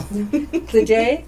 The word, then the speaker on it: Glede: Glede, I said it right? Right.